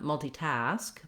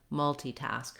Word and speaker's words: multitask: The stress in multitask, the main stress is on task, and then you have a little bit of stress on the mul syllable as well. So the rhythm is kind of long, short, long, multitask, multitask. But you don't want to be too short, not multitask, but multitask. So long, short, and long. Stress in both the first and last syllables, basically.